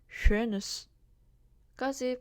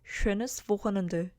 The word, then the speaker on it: schönes: 그래서 오 umlaut는 입모양을 오로 유지한 채로 입안에서 에 발음을 해주시면 됩니다. 그래서 오, schön 이 발음을 기본적으로 하고요. schönes까지 발음을 한 후에 이제 Wochenende가 중요한데요.